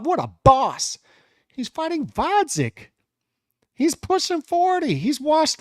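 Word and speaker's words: Gvozdyk: to 175 to fight bodik with the silent G oh my God oh my God that what a boss move what a tough what a boss he's fighting vodic he's pushing 40 he's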